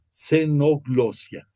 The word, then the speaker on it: xenoglosia: El primero de ellos se llama xenoglosia o genoglosia, algunos lo pronuncian así. Comienza la palabra con X, es xenoglosia.